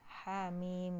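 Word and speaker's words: حم: kan hamil asalnya kalau di Alquran tulisannya Ha sama Min doang kan Amin gitu ya ya dibacanya Hamim gitu kan ya tulisannya huruf hijaiyahnya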